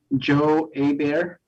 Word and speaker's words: Joe Abear: It is my pleasure to introduce Joe Abear. That's how you pronounce it. He goes by Joe Abear, even though his spelling is sounds like Heber, but it's really Abear.